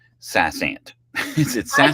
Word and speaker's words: SaasAnt: But I say Sassant. yeah. Saasant. And just FYI, if you call their number and you get their recorded information about something, they say Sassant. Okay. Yeah. Well, if they pronounce it that way, then we'll pronounce it